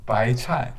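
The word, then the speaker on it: 白菜: It's Cantonese pronunciation of bai chai, bai chai.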